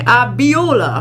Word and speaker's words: Abiola: Ebola. Is that an I? Abiola. Abiola. How would you pronounce that?